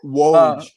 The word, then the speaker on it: Woj: Woj.